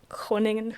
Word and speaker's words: Groningen: How do you pronounce it? Groningen.